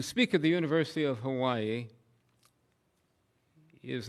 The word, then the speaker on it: Hawaii: in the American paradise that we all call Hawaii, even though I've now been told that's the wrong pronunciation. Hawaii, not bad.